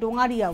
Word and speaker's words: ডোঙারিয়া: উপরে, এটা হচ্ছে ডোঙারিয়া, অ্যাকচুয়ালি উচ্চারণটা হচ্ছে ডোঙারিয়া উইভ।